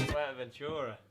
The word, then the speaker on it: Fuerteventura: Fuerteventura. Is that how you say it? Yeah, Fuerteventura.